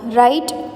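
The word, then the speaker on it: write: इज पेड़ों को word राइट राइट यहां पर डब्लू साइलेंट यहां पर डब्लू दोनों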